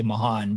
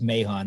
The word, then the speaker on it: Mahon: Depends on where you're from. Mahon. It's Irish. I guess if you're Irish, you would say Mahon, but everybody says Mahon.